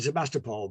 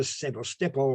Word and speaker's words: Sevastopol: Notice, by the way, I'm giving it the correct Ukrainian pronunciation there. Now, I would have said Sebastopol, but it's now Sevastopol because I've been there.